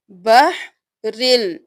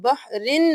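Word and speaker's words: بحر اللجي: تشدید چھوٹ جاتی ہے۔ سب سے پہلے دیکھ لیجئے بحر اللجی یغشاہ، سپیلنگ کر لیجئے، با زبر ح بح، را دو زیر لام رل، بحرل۔ اب جب ہم ملائیں گے تو ہم بحرن نہیں کریں گے، را کو لام کے ساتھ ملائیں گے، بحرل۔ اب لام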